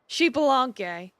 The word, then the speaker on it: Xbalanque: to meet with Lord Xbalanque. The X is pronounced as an SH sound.